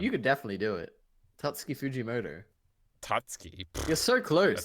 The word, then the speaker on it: Tatsuki Fujimoto: Wait, why can't you pronounce his name? Which one? You could definitely do it. Tatsuki Fujimoto. Tatsuki. You're so close. That's Like, a you're shit so name. close. Tatsumi Fujimoto.